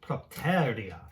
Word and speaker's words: propterea: So propterea, it's because you got the accent on the te.